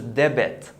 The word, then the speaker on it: debit: And don't confuse this word with the other one, which is debit. This one. This is debit, which is debit card, So this is a different word. Here the B, pronounce it normally, but this one here is debt.